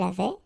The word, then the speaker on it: avait: avais, il avait, elle avait, nous avions, vous aviez, ils avaient, elles avaient. Okay, so j'avais, final S not pronounced. Tu avais, final S not pronounced. Il avait, final T not pronounced.